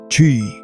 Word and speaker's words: Chi: They called it Chi, pronounced Chi.